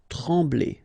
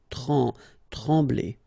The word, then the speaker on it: trembler: Trembler. Okay, same thing here, nasal, EM, okay, en, trembler, okay, no pronunciation of the M, trembler.